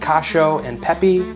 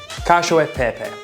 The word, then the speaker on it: Cacio e Pepe: And in that spirit, remember, this is Cacio e Pepe. Not Cacio and Pepe, not cashew and peepee, Cacio e Pepe. That's how it's said.